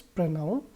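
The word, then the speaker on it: pronoun: बहुत सारे स्टूडेंट्स इसको प्रोनाउन बोलते हैं, लेकिन इसका करेक्ट प्रोनाउंसिएशन क्या है फ्रेंड्स, प्रोनाउन।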